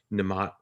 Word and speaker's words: Nimat: I am here with Nimat from the, am I pronouncing that right? Yes.